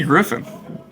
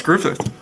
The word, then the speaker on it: Griffith: said Griffith and I said it's Andy Griffin I thought I sore is Andy Griffin I've heard it in my entire life and he was like no it's Griffith and then he later